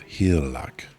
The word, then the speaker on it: Hygelac: The G is basically silent. Then the thing of hlac, the good man of